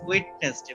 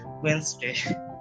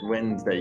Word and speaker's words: Wednesday: Uh, It's Wednesday is a strange word because of the D.